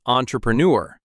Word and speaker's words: entrepreneur: It's a French word, actually, but in English, we pronounce it entrepreneur.